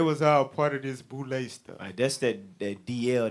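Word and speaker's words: Boulé: freemasons which included dr henry min formed the boulet which ended up forming these black fraternities right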